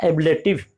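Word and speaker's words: ablative: यह प्रीफिक्स, कहीं ऐब कहीं अब, इसका उच्चारण होता है एबलेटिव, एबलेटिव।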